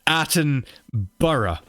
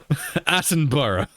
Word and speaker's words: Attenborough: right it's his name i know an accent thing can make people say borrow or edinboro but it's his name attenborough attenborough say it attenborough i've